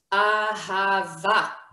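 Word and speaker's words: אהבה: This would make, wait a minute, this would make an a, ha, and the vet together with the hey, the silent hey at the end, makes va. So together we have ahava, love.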